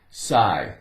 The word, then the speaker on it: sigh: So here we have sigh. Sigh. GH, it's not making any sound here. We just have SI, sigh.